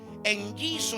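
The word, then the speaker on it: ἐγγίζω: que es la palabra griega que se pronuncia eno e n g i z o en yiso y esto significa estar cerca, próximo o llegar.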